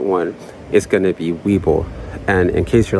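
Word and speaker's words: Webull: now the second one is going to be Weeble and in case you're like who that sounds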